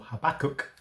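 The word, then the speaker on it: Habakkuk: third chapter of the book of Habacook or Habachok as some pronounce his name.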